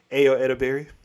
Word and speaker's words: Ayo Edebiri: Ayo Edebiri.